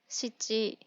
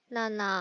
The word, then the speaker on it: 七: Nó có thể được đọc là "shichi", "nana" hoặc "nano".